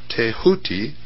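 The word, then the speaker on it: Tehuti: scribe of the Gods tho pronounced tahuti the so-called Emerald Tablet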